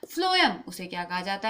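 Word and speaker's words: phloem: तो एफ फॉर फ्लोएम, और F means कि नॉर्मली तो पी फॉर फ्लोएम होता है, लेकिन प्रोनाउंसिएशन के थ्रू हम एफ फॉर फ्लोएम बोल रहे हैं ना, फ्लोएम, और एफ फॉर फूड।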